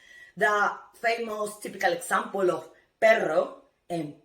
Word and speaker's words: perro: But when you see two R's, okay, and one word, automatically it's gonna be hard sound. The famous typical example of perro and pero.